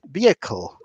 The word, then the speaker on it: vehicle: I said to her, yes, unfortunately, some people will pronounce it as vehicle or vehicle, but it's pronounced vehicle.